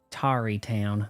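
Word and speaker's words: Tarrey Town: You know, thanks to you, Tari Town, that's how it's pronounced, is doing real good.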